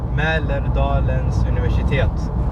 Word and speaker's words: Mälardalens Universitet: Ali, how to pronounce that? Mälardalens Universitet.